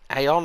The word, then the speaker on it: Aeon Must Die: his name but it's a on or eon it's spelled aon uh so aeon i guess um but aeon